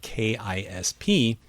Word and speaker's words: KISP: Here are new contexts, NISP, FISP, and RISP, which can be probed using the non-word KISP with the expectation that it will be pronounced to rhyme with lisp.